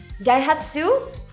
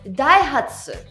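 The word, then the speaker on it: Daihatsu: Die-hut-su? Wrong. You should say Die-hut-suh.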